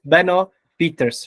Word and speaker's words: Benno Pieters: BOS our honored guest is uh and now pronouncing Beno Peters right that's right it's correct okay thank you